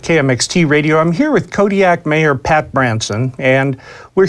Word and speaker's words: Kodiaq: In the Alutiiq language, the Q's are more come from like your throat than a normal K does. How would we pronounce it then? Kodiaq. Kodiaq.